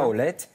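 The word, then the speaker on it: Tawlet: culinaire, alors elle s'appelle Taoulet, c'est ça je prononce correctement ? Taoulet, exactement. Taoulet, et de quoi s'agit-il exactement ?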